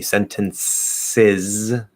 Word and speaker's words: sentences: Sentences, just like pronounces, it's S-I-Z, sizz.